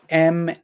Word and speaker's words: Maryland: And Maryland is Maryland, like Mary, like the woman's name, Mary, Maryland. But it's pronounced, it is pronounced the way that you spelled it, Maryland.